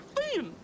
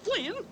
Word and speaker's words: Finn: useless loafer he was Huckleberry Finn not Flynn ain't it for decent